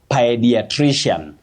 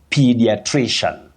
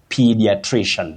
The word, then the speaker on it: pediatrician: And the sound there is the high front sound e. P, not pi. Those who say pediatrics, pediatrician, they should avoid it, especially in serious communication. You say pediatrician, pediatrician.